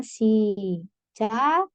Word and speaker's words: 시작해요: Ini cara bacanya, sama seperti tadi ya Rabun, giok ketemu ha, jadinya kiep ya. Berarti dibacanya sijakheyo. Sijakheyo.